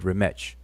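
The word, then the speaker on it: rmṯ: That TCH has a sound like a church, like the word church, the CH in church.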